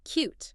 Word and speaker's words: QEWT: And QEWT is pronounced cute.